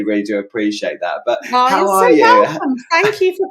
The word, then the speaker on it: Hoah: new but am I correct in say it's pronounced ho right it's pronounced HOA yeah okay right I